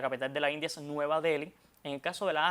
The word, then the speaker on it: Nueva Deli: caso de Nueva Delhi, esa H ahí ahí detrás de la L, no tiene un sonido propio en español. ¿Qué hacen las academias? Recomiendan entonces omitirla. Y aunque quizás a los televidentes les resulte extraño escribir nueva Del sin H, las academias recomiendan que se omita esa H, como mismo en